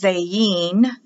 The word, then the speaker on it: Zayin: the next letter is zayin the i is pronounced like an e this is for the